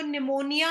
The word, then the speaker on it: pneumonia: वो बीमार पड़ गई, उसको निमोनिया हो गया. आप लोग स्पेलिंग्स को अच्छे से लर्न करना बच्चा. निमोनिया, निमोनिया में पी आता है, PNEUMONIA.